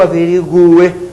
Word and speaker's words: averigue: eu averigue que eu averigue que tu averigues que ele averigue que vocês notaram o u é pronunciado porém é tônico é tônico sou obrigado a